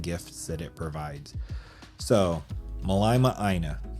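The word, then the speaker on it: Mālama ʻĀina: And I'm thinking that since we're basically going for tropical paradise, we should call it Malama Aina or Malima Aina. If you know the correct pronunciation, let me know. I think it's Malama Aina, which, as I understand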